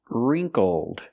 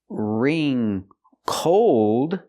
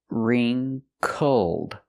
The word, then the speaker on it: wrinkled: So, we see the W is silent. Ring for the first syllable. Use the sound e like green beans. Ree, ring. Make the sound in your nose. Ring. Wrinkled. Not ring cold, but wrinkled.